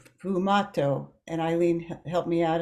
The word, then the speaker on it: sfumato: of the other to make this what's called sfumato.